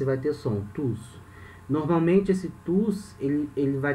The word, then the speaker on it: tous: Nesse caso, esse tu se pronuncia assim, o S é mudo, tu. Algumas situações o S vai ter som, tus.